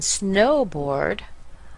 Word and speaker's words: snowboard: So baseball and snowboard are compound nouns. But when we're talking about pronunciation, we need to notice that a compound noun is always stressed on the first word of the two words.